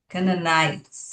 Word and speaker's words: Canaanites: Canaanites Canaanites Canaanites And one way is you can see that the there's a the silent e at the end of the word Canaanite and that e will often then silent e then makes the i open. So, Canaanite.